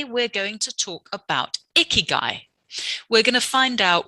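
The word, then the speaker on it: 生き甲斐: And Gai, which was actually pronounced Kai, or it was spelled Kai, K-A-I originally, and then moved because it was easier to pronounce Gai.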